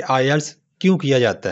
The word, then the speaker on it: IELTS: सबसे पहले हम बात करते हैं कि IELTS इसको प्रोनाउंस किस तरह करते हैं। तो इसका करेक्ट तलफ़ुज़ है IELTS।